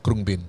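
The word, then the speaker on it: Khruangbin: Okay, but it's pronounced It's Krungbin.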